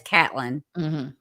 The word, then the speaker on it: Catlin: I thought it was Caitlin, but I've heard them pronounce it as Catlin.